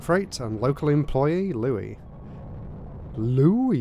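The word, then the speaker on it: Louie: Louis, you have to say it like that.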